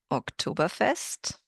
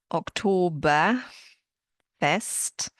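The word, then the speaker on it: Oktoberfest: But would you have pronounced them the way I just did? October best. I hope you noticed that German does not have an R sound like American English does. So it's not October Fest. It is October Fest and the word that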